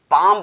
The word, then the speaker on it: palm: फिर समझाता हूं कि जब भी किसी की वर्ड के लास्ट में LM का यूज हुआ हो, यल और यम का यूज किया जाए तो यल हमारा साइलेंट हो जाता है, केवल यम को पढ़ा जाता है।